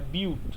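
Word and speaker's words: but-: দেন ইথ, যদি কার্বন ডুট থাকে, তিনটে কার্বন থাকলে প্রপ, এটা বাট না, এটা বিউট। ঠিক আছে, এটা বিউট উচ্চারণ করবি, বাট বলবি না আবার কেউ।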